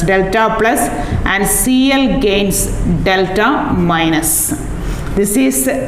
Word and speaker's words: delta: As a result, hydrogen gains delta partial plus delta plus and Cl gains delta minus. This is pronounced as, this sign is pronounced as delta.